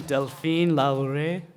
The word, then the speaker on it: Delphine Lalaurie: but Madame Delphine Lalaurie, I think is that how you say it?